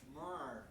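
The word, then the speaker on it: Ja'Marr: Jamar.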